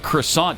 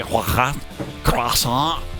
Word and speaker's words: croissant: When you say the word croissant, do you say croissant? No, everybody says croissant.